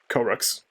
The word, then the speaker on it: Koroks: Yeah, I said Kokoroks because I thought there was another K there. Koroks.